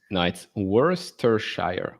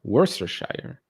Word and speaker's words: Worcestershire: Yeah, I think it's Worcestershire. I wasn't that far off. Yeah, If it's right. No, right. It's Worcestershire. Worcestershire.